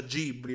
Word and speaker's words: Ghibli: Vabbè che in Giappone si pronuncia Ghibli, non so se lo sapevate.